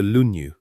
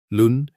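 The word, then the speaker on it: 論語: In Chinese, it is called the lunu. Two syllables. Lunu, you do not need to hold on to it, but let it rest in the air a moment.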